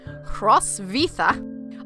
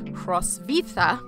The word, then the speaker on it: Hrotsvitha: But the Latinized pronunciation of her name is Hrostvitha. All right. And she wrote in Latin and wrote her name that way. So that's how we're going to pronounce her name today.